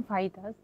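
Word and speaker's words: Fajitas: হ্যাঁ, অ্যাকচুয়ালি এটা হচ্ছে প্রোনাউন্সিয়েশন ফাহিতাস। কিন্তু বাংলাদেশে মানে আমাদের দেশের সাধারণ মানুষ বা আমরা হুম, ফাজিতাস বলি। কারণ হুম, মানে এটা মেক্সিকান একটা শব্দ, তো হুম, ওরা হচ্ছে যেটাকে হা বলে, হুম, হুম, হ।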